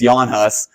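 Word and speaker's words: Jan Hus: guy came up named Yan hus spelled like Janus but it's Yan hus uh he was chesan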